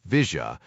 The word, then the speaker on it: villa: The villa Argentines pronounced it visa was a gray swath of nothingness next to the tracks on most maps.